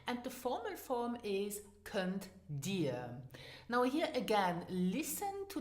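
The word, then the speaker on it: Kënnt dir: Let's finish now with kannst du, so can you, and the formal form is könnt dir. Now here again, listen to the pronunciation in spoken Luxembourgish.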